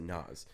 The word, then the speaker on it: Nyz: uh his name is Nas spelled differently nyz I think is how it's spelled and he's NZ but he pronounces it Nas he's like spelled different